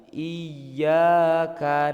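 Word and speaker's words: إياك: Itu biasanya itu kita bacanya keliru, Pak. Bukannya ditasydid ya, ditekan malah biasanya dipanjangin, Pak. Iyaka. Nah, itu yang benar itu kita ditekan sedikit, Pak. Karena itu tasydid. Iyyaka na'budu wa iyyaka nasta'.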